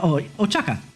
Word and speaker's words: Ochaka: Let me pronounce her name right. Ochaka. Yeah, Ochaka. Okay. So I actually had it right the first time. It's just the extra H in there throws it a little weird.